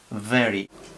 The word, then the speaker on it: very: Entonces, pues hay que saber que se pone el labio inferior debajo de los dientes superiores y se dice very, very. Es una especie de F pero suavizada, very, very, vowel, vowel.